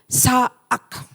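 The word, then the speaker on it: צעק: Kata teriak yang dipakai di sini saudara adalah dari kata Ibrani itu dia pakai sa'ak. Sa'ak, seperti itulah bacanya ya.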